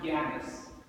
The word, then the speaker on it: Janus: a woman god named Janice the Latin version is pronounced Janis there were two young